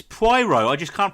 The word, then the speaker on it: Poirot: It's no, it's not Pyro. It's Poirot. I can't pronounce it.